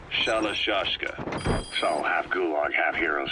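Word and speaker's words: Shalashaska: The guerrillas were using the name amongst themselves, and by the time I got to hearing about it, pronunciation had wound up as Shalashashka.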